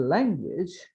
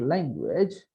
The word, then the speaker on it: language: Now, see, even the language is not language, but it is language.